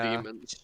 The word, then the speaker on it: daemon: Daemons. Fucking, Even when it's spelled with a D-A-E, it's still demons.